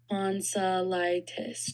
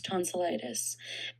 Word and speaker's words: tonsillitis: The corre the correct pronunciation is as follows. Tonsilitis. Tonsillitis.